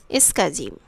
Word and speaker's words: SCSI: stands for small computer system interface scsa is pronounced as escazim use of icons and windows are characteristics of